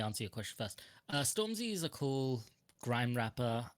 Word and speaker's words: Stormzy: hopefully oh right how did you feel about stormies uh being in washoe's legion how do you say that his name storm storm z oh stormzy yeah storm zed y stormtrooper y excuse me